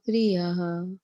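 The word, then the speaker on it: प्रियः: So here you did take cognizance of the fact that there's a H in the end and there's a H in the end with a dot. And that's why you said aharaha, and then you said priyaha, right?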